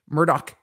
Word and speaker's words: Murdaugh: pronounce it Murdoch I know that's how to pronounce it it's it's Alec Murdock it's very there's a lot of hard CK